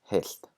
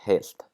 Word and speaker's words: heilt: Also, pay careful attention to the change in pronunciation that the T may cause, like in the word heilt, we have the voiceless L.